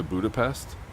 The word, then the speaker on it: Budapest: Just pronounce it the way it's pronounced in English.